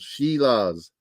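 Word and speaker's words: Šilovs: Artur Shilovs. Shilovs. That's how they pronounce it.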